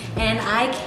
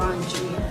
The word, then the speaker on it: Andre: we have Andre here you pronounce it Andre or auntie I actually go by both as long as as long as people don't call me like Andi or something that